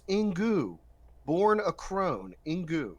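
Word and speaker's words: Inkoo: check these people's Twitter's staff writer at Twitter pronounced in goo born a Crone in goo so it's pronounced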